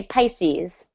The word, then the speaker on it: Pisces: Sometimes people say Pisces, but I All right.